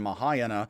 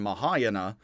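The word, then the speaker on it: Mahāyāna: and later mahayana buddhists i do say teravata and mahayana some say teravata mahayana the words would be more pronounced and i think it would be better in english to say teravata and mahayana and these are words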